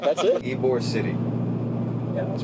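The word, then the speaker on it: Ybor City: e like e Perfect all right that's it ebore City yeah that's right yep have you been there oh it's ebore City a here is that how you say it yes ebore City you've been to ebore before right yeah the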